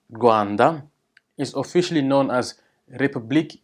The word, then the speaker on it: Rwanda: Rwanda's which is pronounces guan de is officially known as